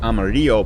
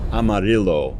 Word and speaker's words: Amarillo: expect that to be Amarillo but it's actually pronounced Amarillo it doesn't have the Spanish pronunciation so I think that's